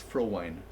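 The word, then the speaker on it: Frowein: so so in Dutch in Dutch that when there's when there's two vowels together the second letter is the one that pronounces so it's I so it's for wine thank you that's it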